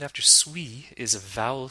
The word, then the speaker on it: suis: This is the French liaison at work, because the very next sound after suis is a vowel sound, américain. We pronounce the S as a Z sound.